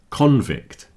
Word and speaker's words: convict: But today it's a noun, so it's convict.